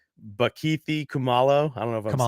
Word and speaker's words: Kumalo: Bakithi Kumalo. I don't know if I'm saying it right. Yeah, that's right. Kumalo.